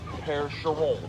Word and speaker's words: Percheron: river valley in normandy france so they're actually pronounced pear-sha roll quick that max never put off that ring